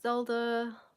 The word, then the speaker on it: Zelda: really help people yes you pronounced it right yay my name is Zelda like the game so my nickname is